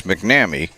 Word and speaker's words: McNamee: at a senior kierra mcnamee and there's one of the trip yet because it looks like it should be pronounced a number of ways but it's mcnamee as i tell myself